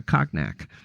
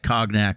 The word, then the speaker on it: cognac: Well, if we must use the French pronunciation.